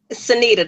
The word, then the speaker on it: Cyneta: Pronounce it. Is it Cyneta? Cyneta, there you go.